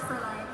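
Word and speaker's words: Fraulein: Frolene. Did I pronounce it right? It's pronounced as Fräulein.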